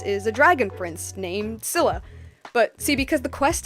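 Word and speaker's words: Scylla: longest time it was skilla for the longest time I pronounced it a skilla cuz I genuinely didn't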